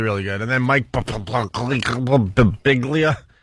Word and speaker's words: Birbiglia: And then Mike Birbiglia. How do you say his last name? I get to Brig and then my brain shuts down. Birbiglia.